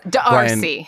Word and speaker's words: d'Arcy: It's because you didn't pronounce the apostrophe, and I think that was the big problem. It's Darcy. Darcy James. Yeah. Like D'Arcy Carden.